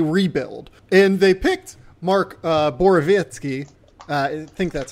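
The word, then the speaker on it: Borowiecki: And they picked Mark Borovitsky. I think that's how you pronounce his name. Yeah. It's not Borowicki like it's pronounced or like it's spelled.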